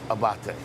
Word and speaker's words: Abate: it's about that but on this street it's pronounced abate that's the way they pronounce it in italy he says he also